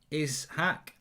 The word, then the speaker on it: Ishak: trophy by the way my first name is pronounced is hack but you got my last name right it's hack bake um i don't i